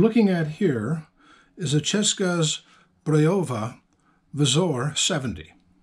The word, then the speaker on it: Česká Zbrojovka: oh honey what you're looking at here is a cheska's breova visor 70. that's the how you pronounce the name of CZ in Czech what this is back